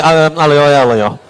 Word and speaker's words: aglio: aglio is garlic, olio is oil.